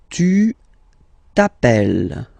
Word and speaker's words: tu t'appelles: All right, second form, tu t'appelles. Okay, remember, final s not pronounced.